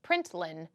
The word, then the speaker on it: println: do println and then we pronounce it print Lin then you have a